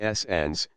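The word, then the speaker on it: St Agnes: Tresco is the second, then S. Agnes, pronounced S. Ans, then S.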